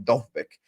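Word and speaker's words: Dovbyk: Because this article right here that you've put up with, I think someone said in the chat, apparently pronounce his name Dovbik. You know, okay, there we go. Dovbik, yeah, apparently.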